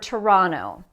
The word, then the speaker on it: Toronto: fast speech okay so look at the word Toronto or Toronto which syllable has stress Toronto the second syllable Toronto so when we're speaking quickly because this syllable is stressed the T can be dropped okay the next part